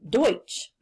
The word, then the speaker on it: Deutsch: And if you look in parentheses there, you see how it's actually pronounced. It's Deutsch. The English-speaking settlers heard the German-speaking settlers use the term Deutsch.